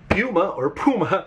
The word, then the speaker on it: Puma: And instead, I'm thinking we go with Puma. Now, some people pronounce this as Puma. I got used to pronouncing it as Puma, so I'll pronounce it as Puma.